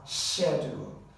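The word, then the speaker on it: schedule: of this word because it has different pronunciations in America and British English Americans would pronounce this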